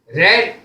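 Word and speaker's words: read: और उसके बाद object रेड रीड रेड रेड इसकी स्पेलिंग एक जैसी रहती है लेकिन उच्चारण अलग अलग होता है रीड माने पढ़ना रीड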